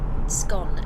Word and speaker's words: scone: Um, the outliner said, "For me, it's scone rhyming with cone." Mhm. And Paul Weaver said, "Hi, what's this channel about?" Bikes or dinner. It seems to be food, drink, bikes, cars, whatever you want to whatever you want to talk about. Um, Gary Moore said scone as in gone. Laugh out loud. And XS signal said scone to rhyme with Oh, scone to rhyme with gone.